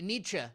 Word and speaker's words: Nietzsche: I think that's how you pronounce his name, niche or ni. Nietzsche? Nietzsche.